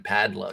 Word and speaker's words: Padlo: name of i mean you didn't even say his name right it's kevin padlow you said no no no it's paldo to me pal though kevin powder